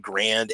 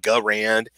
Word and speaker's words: Garand: the m1 garand and you can pronounce that m1 grand m1 garand garand is what I've seen and what I've been told is a proper pronunciation on it so the